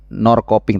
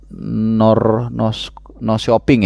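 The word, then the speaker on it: Norrköping: p i ng G jadi Nor koping Tapi bacanya Kalau enggak salah Nor shoping ya Nor shooping Kalau enggak salah tapi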